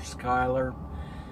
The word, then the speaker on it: Schuyler: hey there so today was a busy driving day I left Schuyler average pronounced Schuyler Skylar Nebraska this morning i guess it was probably about 8 30 a.m.